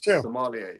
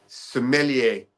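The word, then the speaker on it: sommelier: to be the resident Somalier or as you Somalia. You you basically Somalia you sent him to a North African country. He's Somali a he's the first Somali. Yeah. He's the first Somalia. How is it pronounced? Sumeier.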